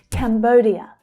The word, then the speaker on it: Cambodia: Cambodia. Cambodia. The stress is on the second syllable there. Bow. Bow. It's the O as in go vowel sound.